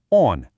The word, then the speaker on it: он: Let's say it together on.